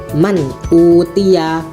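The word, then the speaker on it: مَنْ أُوتِيَ: Ketika bertemu hamzah, contohnya man utiya, man utiya. Jadi itu bacanya kalau idhar halqi ini jelas, tidak boleh didengungkan.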